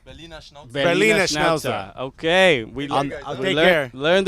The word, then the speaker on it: Berliner Schnauzer: Berlin Schnauzer? Berliner Schnauzer.